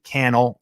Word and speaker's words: Cannell: my name is cannell rhymes with youtube channel and we're going to